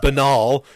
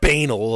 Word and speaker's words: banal: And for people to talk about, like it said, the most banal, and I know that word should be pronounced banal, okay, but I like banal a lot better.